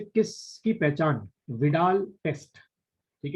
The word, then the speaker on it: Widal: विडाल test, ठीक है, आपको विडाल टेस्ट बताना है, इनमें से किससे किया जाता है विडाल टेस्ट?